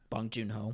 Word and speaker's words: Bong Joon-ho: Bong Joon-ho.